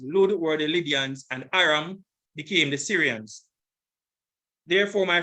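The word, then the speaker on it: אֲרָם: Aram, this is the pronunciation. Strong's H758, Aram, Aram, and the form just below that, Aram, Aram.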